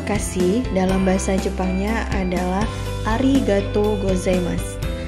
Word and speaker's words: arigatou gozaimasu: bisa shiburi terima kasih dalam bahasa Jepangnya adalah arigatou gozaimasu diucapkan ketika berterima kasih kepada seseorang dan ini merupakan